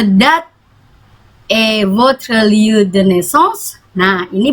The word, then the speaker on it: naissance: Karena dia S-nya 2 bacanya S, bukan Z tapi S, naissance.